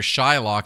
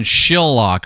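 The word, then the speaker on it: Shylock: Is it possible that Shakespeare originally intended the name to be pronounced with a short I rather than a long one? So instead of being it would have been Shillock or Shill for short.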